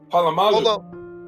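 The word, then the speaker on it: Polamalu: So Michael Vick, 2004, Donovan McNabb, 2006, Sean Alexander, 2007, Vince Young, 2008, Brett Favre, 2009, Troy Palomu, how do you say his name? Palomalu.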